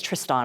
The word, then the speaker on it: Tristan: the center of Humane technology they're amazing it's Triston I said his name wrong so anyway it's Triston and they're amazing